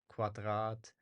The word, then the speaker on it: Quadrat: other words such as quadrat um qu like here so it's basically it sounds like there's a w sound after right like and okay